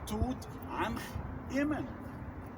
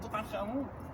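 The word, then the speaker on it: Tutankhamun: So if you want to pronounce the name of kings in a correct hieroglyphic way, you say, for example, Tut Ankh Eman, not Tut Ankh Amun. Amun came later.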